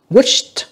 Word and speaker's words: wished: Wished, âm tờ nha, tại âm cuối của nó là S lớn nha các bạn, âm cuối của nó là âm sh.